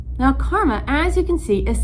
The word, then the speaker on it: Kerma: desert next up let's take a look at karma now karma as you can see is spelled differently than it is pronounced now karma